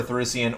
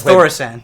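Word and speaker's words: Thaurissan: Brandon, I have to correct you. It's Thoricen. Thoricen? Okay. Yeah, okay. Thoricen. Thank you. No, it's a problem. No, when it comes to pronunciation, nip that in the bud No, immediately. a lot of people... Thoricen. There's a guy at Smarts Thoricen. that pronounces it Thoricen. Like Calrissian and Thoricen.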